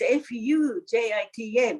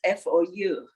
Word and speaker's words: Foujita: Actually, you know, in Japanese, Fujita, but he spells like French way. That's why Fu is Foujita. That's how he is known. Now, can you say it in Japanese? Fujita.